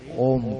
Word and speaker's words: ओम: श्वास गहरा भरा, ओम का उच्चारण किया। ओ छोटा 1/3, 1/3, म 2/3 लंबा।